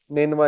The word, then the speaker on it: نینوا: تو ادس نے کہا کہ میں نینوا سے ہوں۔ نینوا اس کا تلفظ ہے NINEVEH۔ نینوا جو ہے یہ